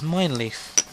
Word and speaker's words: Mijnlieff: get better eventually and that is mine leaf and yet that is how you pronounce it - not like minecraft mine leaf and that's